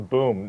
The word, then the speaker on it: Boom: The boom. It rhymes with Zoom.